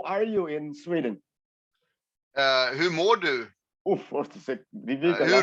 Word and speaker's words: Hur mår du: Hur mår du? What is it? Difficult, huh? Hur mår du? Hugh, I can't spell it.